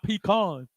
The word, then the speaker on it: pecan: I come to Warner Robins to get my pecans. wow. Oh, But God. see, first of all, you on the wrong. You putting the emphasis on the wrong part of the word.